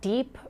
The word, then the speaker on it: DIEP: I want to ask you about your decision to opt for the specific surgery called deep reconstruction. It's spelled DIEP, pronounced deep reconstruction. I want to turn to